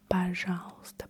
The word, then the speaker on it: пожалуйста: Пожалуйста. Помедленнее, пожалуйста. Slower, please. Slower, please. Помедленнее, пожалуйста. Помедленнее, пожалуйста. You probably have noticed I don't say пожалуйста. Пожалуйста. We don't really pronounce the и краткое «е». Пожалуйста.